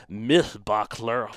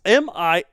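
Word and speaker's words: Mihlbachler: it was deduced by a paper by paleontologist Mythbachler. Oh, you really butchered that name, worse than I butcher the goose in Michelin star restaurant.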